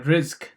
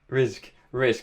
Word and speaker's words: Rizq: founders and CEO at Rizq. Am I pronouncing that right? Yeah, Rizq. Rizq.